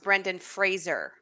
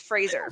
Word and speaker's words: Brendan Fraser: on social anyway he said his name is pronounced Brendan Fraser oh really well everybody mispronounces my name it's Fraser like okay I really want I really want